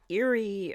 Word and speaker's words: Erie: here's a sighting from Erie Pennsylvania well they only spell it with one e e r i e but it still sounds like Eerie the date of this